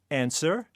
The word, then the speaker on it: answer: Finally, raspberry, answer, Neil.